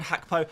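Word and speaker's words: Gakpo: a few people have I kind of questioned the way I'm pronouncing that I have been assured that that is the correct Dutch way of pronouncing it with a little bit more but I don't want to spit on my camera too much so we'll just go with uh we'll go with gakapo for now I'll be a seller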